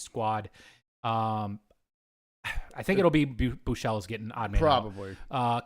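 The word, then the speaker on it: Buechele: It's pronounced Buchel. Yeah, it's that weird E that's in there.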